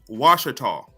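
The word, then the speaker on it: Ouachita: Their name has also been pronounced Washita by English speakers.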